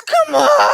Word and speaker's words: Kamala: Is there anything more cringe than people having a melty over how Kamala is pronounced? It's Kamala!